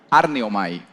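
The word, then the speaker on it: ἀρνέομαι: Negar viene de una voz griega que se pronuncia arneomai.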